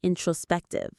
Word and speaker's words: introspective: thoughts is naturally very introspective. And that's our next powerful C2 word, introspective. Let's practice it. Introspective. Introspective. The stress is on the third syllable. Spec. Introspective.